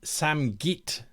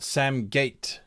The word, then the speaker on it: Samgit: The pronunciation I meant Samgit, not Samgate.